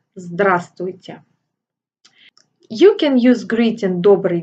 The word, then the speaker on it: Здравствуйте: Note that the first letter V is silent, so you say «Здравствуйте».